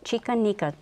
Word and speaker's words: Chica Nica: Chicanica doll dresses. Thanks mm-hmm. for pronouncing it correctly.